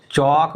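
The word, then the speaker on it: chalk: ये एल है ना इस एल का उच्चारण नहीं होना है इसमें क्या हो जाएगा देखिए ये वॉक बोलेंगे इसको वॉक इसको क्या बोलेंगे आप चौक बोलेंगे चौक इसको क्या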